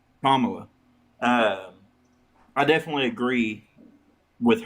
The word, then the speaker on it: Kamala: Camala or how you say her name Kamla Kamala um I definitely agree with her policy a